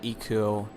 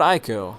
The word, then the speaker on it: Ico: feel about Eco and it's not ieko I sometimes do still go out and say ieko for whatever reason I don't know that's like my initial pronunciation when I first started looking into the games but it's Eco supposedly uh um now what